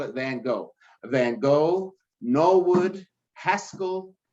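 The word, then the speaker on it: Van Gogh: schools I work with Van go which by the way the pronunciation really is fan so we just call it van go van go no wood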